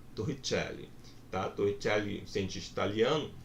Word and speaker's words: Torricelli: Quem quiser pronunciar com sotaque, né, vai ficar como? Torricelli.